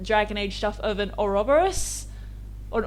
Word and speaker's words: Ouroboros: There's also been a lot of focus lately in Dragon Age stuff of an Ouroboros, or an Ouroboros, depending on how you like to pronounce it.